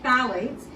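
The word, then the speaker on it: phthalates: researchers study this is phalates so the p in phalates is uh is silent um and these are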